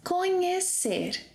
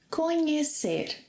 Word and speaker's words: conhecer: Our second verb that is equivalent to know is conhecer. Remember the pronunciation of the sequence NH? If you don't, watch that class. So repeat after me. Conhecer.